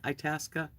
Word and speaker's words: Itasca: have a 1998 Winnebago a task is how you say it Itasca Sundancer you made me